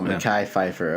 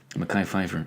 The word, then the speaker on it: Mekhi Phifer: Oh, Mekhi Phifer. Okay. That's how you say it. Yeah. Mekhi Phifer.